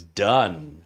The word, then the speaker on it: Dunn: Trevor says his last name is pronounced as Dunn, not Dune.